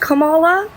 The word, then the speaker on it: Kamala: or sorry Kamala wait am I saying it right I'm sorry I'm not trying to be disrespectful it's Kamala you're good okay sorry